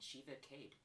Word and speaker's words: Shivaakaid: Shivacade.